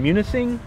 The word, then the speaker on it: Munising: All right, so we're here in Munising, Michigan.